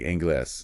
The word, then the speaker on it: inglés: Exactly, like inglés. Yeah. Ends in es, so rule 1 says stress in, but we stress glaze, so it gets the accent.